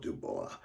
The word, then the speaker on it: Dubois: And Neil Peart took the poem that Pye Dubois brought in, and Dubois. I took a little French in college at Purdue University. Don't remember much, but the French call it Dubois.